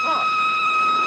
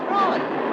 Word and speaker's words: Froy: My name's Froy. You said Froy? No, not even deep. Froy. I'm sorry, I can't hear. It rhymes with joy.